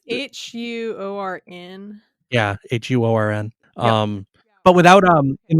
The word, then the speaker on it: Huorn: It's Huorn. Yeah, like horns. Horn. Yeah, what you said. There's a U and an O in that word. And I'm not sure which to pronounce. I think it's Huorn.